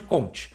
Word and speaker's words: Auguste Comte: P ou Alguns falam a gente funciona no Brasil a gente conte Augusto Comte mais um correto mulher francês Essa é a pronunciar ontem mas isso aí não tem